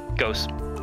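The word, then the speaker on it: Gose: Whenever I see Ghost, how's it pronounced again? Ghost.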